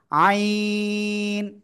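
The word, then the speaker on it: عين: সে অক্ষরটা হলো আইন। আইন, চারে লিপ্টেন উচ্চারণ করতে হয়।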